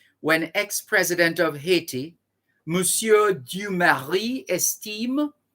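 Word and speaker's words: Estimé: ex-president of haiti museum esteem that's d-u-m-a-r-i-s du mari d-u-m-a-r-i-s you marry esteem e-s-t-i-m-e mussio so this is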